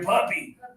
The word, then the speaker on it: puppy: And now pressure down here. Puppy.